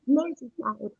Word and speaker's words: Merseyside: Liam Wood said that you haven't been to, am I saying it right, Merseyside, home of the Beatles, and they've really missed you. Oh, Merseyside.